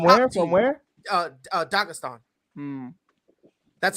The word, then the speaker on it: Dagestan: Dagestan.